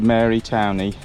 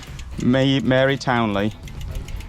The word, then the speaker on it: Mary Towneley: it really back to mary towney lady town sorry lady townley i've been saying it wrong the whole way around i kept correcting these two it turns out i was wrong mary townley and we think that